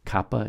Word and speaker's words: Kappa: for the pronunciation guide Kappa is like kitchen Lambda L as in